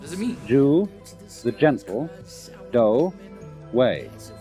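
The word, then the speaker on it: dō: The word judo is fascinating because it means what does it mean the gentle do way do is the Japanese way of pronouncing the Chinese dao and so it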